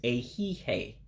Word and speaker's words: ehihie: You don't pronounce every vowel in here. So you eliminate the I character at the end.